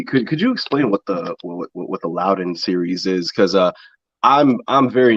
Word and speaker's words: Loudon: did watch your win at the is it pronounced Loudon? Loudon, yeah.